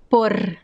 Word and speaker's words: por: american english which is the frequency of r por por que por que por que and it could also sound